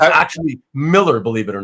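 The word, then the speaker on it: Millar: Mr marar he hates marar because that's how you pronounce it it's actually Miller Believe It or Not Miller with an A okay it's Miller but with an A but but and and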